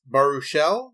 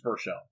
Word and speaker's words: Baruchel: So, our main character, Hiccup, was played by Jay, and I'm going to mispronounce this, Baruchel? Is that how you say that name? Yeah, I believe it's Baruchel.